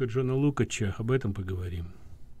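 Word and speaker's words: Lukács: страшного а так джону ну в америке нас указан его фамилию произносит как лукас но он венгерского происхождения и у нас те его книг которые переводят ник некоторые перевели дальше лукач поэтому давайте я буду придерживаться более венгерского варианты называть его лук все-таки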